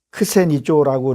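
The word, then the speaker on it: ξενίζω: 엄하게 얘기를 하는 것들 얘기를 하는 거죠.이 대접이라는 것은 이게 크세니조라고 이렇게 발음하는데 이건 뭐 영접하다에 낯설고 신기한 것을 신기한 것을 위해 어 놀라게 하다 이런 뜻을 갖고 있어요.음 뭐야?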